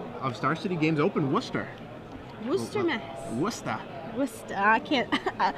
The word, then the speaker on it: Worcester: Worcester. I'm practicing. There we go. I've been trying. I don't like mispronouncing things.